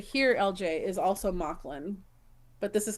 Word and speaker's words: Mauchline: So LJ, and- Mocklin is spelled Mauchline. Right? Yeah, here it's hold on, I'll type it in here. It's Mocklin. Yeah. Steph and I thought it was Mocklin, but it's Mocklin.